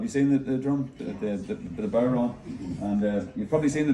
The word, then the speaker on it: bodhrán: The bodhrán?